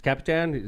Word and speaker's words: Kapitan: Kapitan, that's how you pronounce it, right?